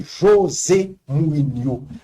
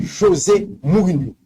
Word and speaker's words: José Mourinho: Dans la langue portugaise, non, j'ai le prononcé normalement, même Jean dans la langue française là. José, Rio de Janeiro, la rivière de janvier. José, c'est pour espagnol. C'est José Mourinho.